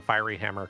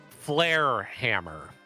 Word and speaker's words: Flare Hammer: comment from chat uh please pronounce the fiery Hammer correctly um flare Hammer there we go got it okay taking